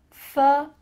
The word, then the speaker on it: photograph: That T-O-G, photographer, is emphasized. Photographer. When you're talking about the physical thing, a photograph, we're gonna emphasize a different part of the word, photograph. Do you notice that the first syllable is emphasized here? Photograph compared to I'm a photographer. Ph, that first part is small.